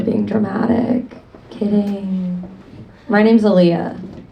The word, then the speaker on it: Alia: Um, my name is Aaliyah. It is spelled with a few less letters though than the R&B singer. It's kind of like a gentrified version if we're being honest. A lot of the time when I introduce myself to people, they think I'm saying my name is Olivia.